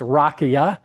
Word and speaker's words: rakija: J's in Croatian are Y, pronounced Y, so it's rakia.